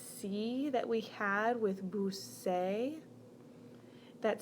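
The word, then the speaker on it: busqué: to look like this this is pronounced boo say well that's a problem because of the verb is buscar so we don't want the yo form of ebu say that's totally different in order to make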